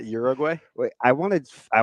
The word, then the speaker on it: Uruguay: come we're talking about Uruguay who was not an outstanding roster so some like to say uguay Uruguay no U not like Ur urbina like the picture I think